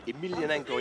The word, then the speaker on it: Emelianenko: Emelianenko, yeah, that's the way you pronounce or it.